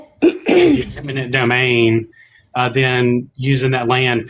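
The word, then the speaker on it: eminent domain: and states are taking land and um in intimate domain intimate domain is that how you say it imminent imminent domain uh then using that land for these data centers and things like that.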